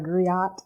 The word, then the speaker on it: griot: Yes, I call it griot. Yeah. Some people colloquially will call it a griot. So if you hear griot, don't judge. Just translate the griot. But griot is basically it's a